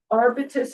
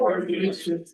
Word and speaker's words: Arbutus: Our next item of business is discussion and possible vote regarding the subdivision plan of 68 and 10 Arbitus Avenue. Am I pronouncing that correctly? Arbutus.